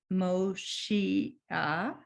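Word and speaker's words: משיח: The accent is not on Moshiach, it's Moshia. The accent is on the next to the last syllable.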